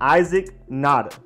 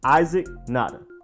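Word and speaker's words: Nauta: boy from UGA Titan Isaac nada I as in like the eye you see with and then zik and then not to Isaac nada and next we have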